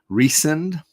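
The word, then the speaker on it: Rhys: romantic interest character is reesen Rh Ys Reese as in the Welsh pronunciation of Rh Ys uh like Jonathan Reese Davies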